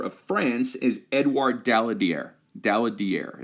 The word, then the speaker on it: Daladier: Daladier is how you say his name, Daladier.